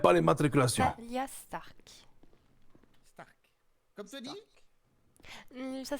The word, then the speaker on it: Starck: Stark. Comme Tony? Ça s'écrit pas pareil. On arrive. C'est une Ah, nuance. ça se prononce pareil, mais ça s'écrit pas pareil.